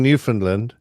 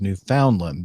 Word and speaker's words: Newfoundland: I've always been saying Newfoundland.